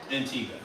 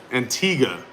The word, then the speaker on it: Antigua: Or how do you pronounce it? Antigga. Antigga. Yeah, that U is useless.